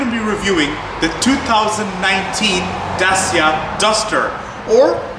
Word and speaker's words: Dacia: So today I'm going to be reviewing the 2019 Dacia Duster, or it's also called the Dacia Duster. That's how it's supposed to be pronounced, guys.